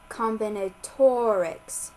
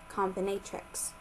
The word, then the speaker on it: combinatorics: chapter 15 combinatorics pronounced combinatorics not comatrix section 15-2 the multiplication